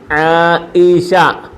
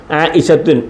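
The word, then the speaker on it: عائشة: ഷീന് ഷീന് ശഷ ആയിഷ ആഇഷ ഇവിടെ തുണ്ട് തു എന്ന് ഉച്ചരിക്കത്തില്ല ആഇഷത്തു എന്ന് പറയത്തില്ല കണ്ട ഇതിന് ഉച്ചാരണമില്ല പറയത്തില്ല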